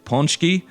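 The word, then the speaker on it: pączki: it in different ways most polish people that i've heard pronounce the word say ponchi so that's how i'm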